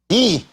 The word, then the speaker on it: Guy: Guy. That is the French. The French pronunciation.